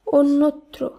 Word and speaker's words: অন্যত্র: অ দন্ত নয় জফলা তয়রফলা, এর শুদ্ধ উচ্চারণ হবে অন্যত্র, অন্যত্র নয়, এর শুদ্ধ উচ্চারণ হবে অন্যত্র। এখানে ও হিসাবে উচ্চারিত হবে।